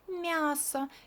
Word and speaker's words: мясо: Look, it's not ya here. It's kind of this y goes to m, and m becomes softer, and we pronounce it like мясо.